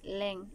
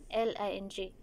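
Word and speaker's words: 零: Ang zero din pala is leng. L-I-N-G. Leng. Okay.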